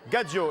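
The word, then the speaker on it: gadjo: Gadgio et on me confirme que c'est dans le dictionnaire. Gadgio, ça s'écrit G A D J O.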